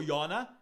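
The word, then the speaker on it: יונה: Vamos estudar Jonas e Naum, ou como são pronunciados no original hebraico, Yona e Nahum.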